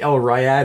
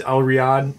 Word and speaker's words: El Riad: it works either way I think Elroy odd is technical but everybody says al riad Elroy on either way so that's works it